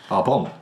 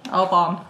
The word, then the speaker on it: Arbon: it makes it rhyme with John. Arbon. Arbon. There you go.